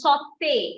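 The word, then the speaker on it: sauté: a tool of pronunciation whenever you see an e with a song you have to pronounce it you give a a sound so it is not it is cafe it is saute it is not salt caspe fiance we don't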